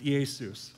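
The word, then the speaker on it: Ἰησοῦς: If you take Jesus' name in Greek, it's Iesus. I love it. It's just a more fun name to say, Iesus, okay? It's spelled like this.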